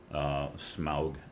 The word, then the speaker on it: Smaug: Smaug, the dragon from The Hobbit, rhymes with August.